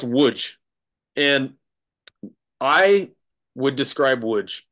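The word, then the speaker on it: Łódź: yeah yeah yeah yeah looks like loads which is also hilarious but it's pronounced wood and I would describe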